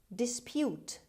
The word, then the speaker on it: dispute: honey word number seven dispute dispute dispute the stress is at the beginning means disagree oppose try